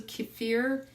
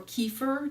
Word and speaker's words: kefir: I was doing also kick fear or kefir depending on how you pronounce it because I've heard it pronounced different ways this kvass there's a